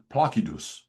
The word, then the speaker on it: Placidus: See, everybody pronounces it Placidus. Mhm. My hobby is pronouncing Latin words in reconstructed classical Latin pronunciation. So you will hear me call it Placidus.